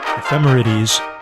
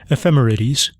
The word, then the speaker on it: ephemerides: Ephemerities. E P H E M E R I D E S. Ephemerities.